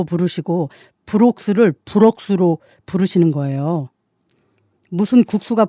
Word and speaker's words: Brox: 남편의 이름은 마커스 브록스입니다. 이름이 마커스고요. 성은 브록스입니다. 스펠링을 말씀드리자면요. M-A-R-K-U-S B-R-O-X 그래서 마커스 브록스인데요. 엄마는 자꾸 마커스를 막국수로 부르시고 브록스를 브록스로 부르시는 거예요.